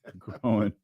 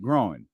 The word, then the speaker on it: groin: about so am I I'm saying it right groin yeah I don't groin yeah now that that one sounded like you said growing g r o w i n g that's what that sounded